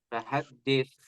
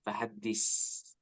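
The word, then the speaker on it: فَحَدِّثْ: Wa amma bi ni'mati rabbika fahaddits ya. Tadi agak kedengaran ke huruf sin, fahaddis ya.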